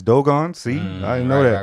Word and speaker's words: Dogon: So I used to call it the Dogon Tribe, but it's Dogon.